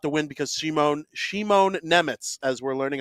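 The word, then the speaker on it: Nemec: started his career well I call him Simon Nemitz because I'm gonna hide behind Kate Madan when she announced who the Devils were Drafting and I'm gonna do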